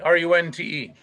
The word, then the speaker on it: Runte: Runte, R-U-N-T-E.